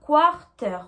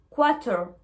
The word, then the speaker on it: quarter: Donc vous avez bien remarqué que quarter s'écrit avec un R, mais je ne prononce pas le R, d'accord? À l'écrit, on met le R, mais à l'oral, on ne le prononce pas. On ne dit pas quarter, on dit quarter, quarter.